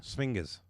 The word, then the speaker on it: sphinges: Sphinges. It's okay, that's good. Yep. I spell that. It's sphinx with a G instead of an X. But ES. GES without an X.